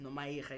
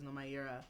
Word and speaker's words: Nomayirha: I think also with when you read it, and if you're not Xhosa, you're not gonna read it as Nomayirha. You're gonna read it as Nomayirha.